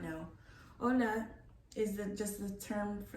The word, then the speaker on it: hola: but some of the audience may not know ola is just the term for the spanish term